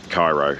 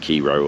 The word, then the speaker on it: Cairo: Beautiful, beautiful towns like Cairo, although I think it's pronounced like Cairo or something or other, but it is named after the Cairo in Egypt.